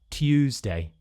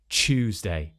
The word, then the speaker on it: Tuesday: y at the beginning, in standard older RP, you would hear t, Tuesday, Tuesday, Tuesday. Now we still hear this today, but it's just less common. What we're more likely to hear now, instead of Tuesday, is Chewsday. So we're replacing this t, y, t, and we're turning it into a ch sound, like in choose.